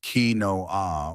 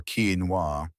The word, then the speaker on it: quinoa: Quinoa, pronounced quinoa or quinoa.